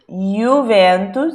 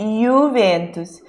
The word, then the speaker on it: Juventus: letra i alongada Então sempre que apareceu um J o pão de então é como time Juventus Juventus estão não é juventu não é Juventus é you ventos tão o seu nome